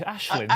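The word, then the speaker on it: Aisling: It's Ashling. Surely it's Ashling, isn't it?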